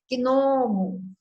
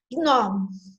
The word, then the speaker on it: gnomo: Você vai falar gnomo, né? Não é gnomo, é gnomo. Não é psicologia, psicologia, psicose.